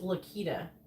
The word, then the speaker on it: Laquita: It's Laquita. Yeah, with a K sound, right?